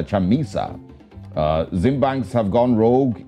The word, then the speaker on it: Chamisa: that's from e day chamissa i beg your pardon i think i pronounced that name wrong it's uh chamisa uh zimbank's have gone